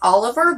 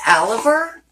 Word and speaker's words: AL'IVER: Now again, this company, I'll put it somewhere around here, but I think it's Oliver, but it's Oliver. It's spelled with an A.